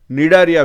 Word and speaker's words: Cnidaria: निडारिया भी उसको बोलते हैं. निडारिया में सी इज साइलेंट.